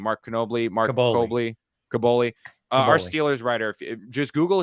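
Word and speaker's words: Kaboly: And our Mark I know how to pronounce his last name. Mark Caboli.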